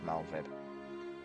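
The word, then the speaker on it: Merlwyb: I like Malwib and it's how you pronounce her name. Spel Melwib, but it's pronounced Malvib.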